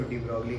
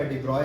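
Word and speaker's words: de Broglie: ये डी ब्रॉगली आप लोग बोलते हैं, मगर इनका नाम, दिस इज एक्चुअली, ये नाम है, इनको प्रोनाउंसिएशन इनका डी ब्रॉय है।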